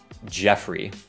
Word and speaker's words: Geoffrey: Khi đọc tên này, thì các bạn hãy bỏ qua chữ O ở đây, Jeffrey. Và nhiều khi, tên đó được viết một cách đơn giản hơn như thế này. Jeffrey. Jeffrey. Phát âm giống nhau.